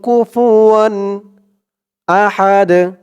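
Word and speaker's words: كُفُوًا أَحَدٌ: কুফু ওয়াও দুই জবর ওয়ান কুফুয়ান ওয়ালাম ইয়াকুল্লাহু কুফুয়ান আহাদ হামজা জবর আ হা জবর হা আহা দুই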